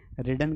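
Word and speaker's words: read: Ridden कहाँ से आ गया भाई, दिमाग मेरा खराब हो गया है क्या? यहाँ पर रीड का थर्ड फॉर्म रेड होता है, स्पेलिंग सेम रहेगी, प्रोनाउंसिएशन बदल जाएगा। ठीक है, चलिए, तो 5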